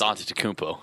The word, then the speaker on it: Antetokounmpo: about a try at the Greek freak Giannis Antetokounmpo? That's not it. I don't know what it is. It's Antetokounmpo. Is it Antetokounmpo?